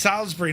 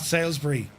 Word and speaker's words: Salisbury: It's pronounced Salisbury, not Salbury.